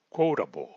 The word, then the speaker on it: quotable: Segundo, la consonante T en la palabra quotable y en muchas otras palabras, como verán más adelante, tiene el mismo sonido de nuestra consonante R en español. ¿Ok? R, R de claro, de pero, de muro, etc. Y su pronunciación es quotable.